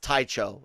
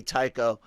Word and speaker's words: Tycho: someone's had pronounced uh someone had tried to say that it was pronounced taicho and and i was like no it's gotta gotta be tycho and and uh he's